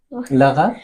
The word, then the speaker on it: l'arabe: L'arabe? Oui. Je peux pas prononcer le mot. Vous pouvez pas quoi? Prononcer. Prononcer quel mot? La. L'arabe. Oui. Voilà, l'arabe, c'est L apostrophe. Plus arabe, hein?